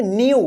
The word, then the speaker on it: new: जब लास्ट में आपको EW मिलेगा तो इसको क्या पढ़ेंगे? तो यहां पे देखिए इसका उच्चारण होगा यू, यू होगा, ठीक है ना। जैसे इस प्रकार का वर्ड्स देखिए आप, देखिए ये वाला, ठीक है ना, ठीक है, ये वाला वर्ड्स, ये वाला है, ठीक है ना। तो इसको आप कैसे पढ़ेंगे? NEW लास्ट में रहेगा तो यू उच्चारण होगा, तो इसको क्या पढ़ेंगे?